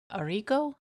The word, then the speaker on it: Arrigo: It stars Tori DeVitto as Jenny and Will Kemp as Arrigo. Is that how you pronounced it?